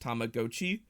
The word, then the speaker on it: Tamagotchi: you knew that it was tech it's technically pronounced Tamagotchi um I I and like 80% of the rest of the world call it Tamagotchi uh and will continue to do so um